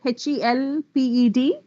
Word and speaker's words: helped: t sound for example h-e-l-p-e-d it's helped with the term in spite of the spelling that you see as an ed as in looked washed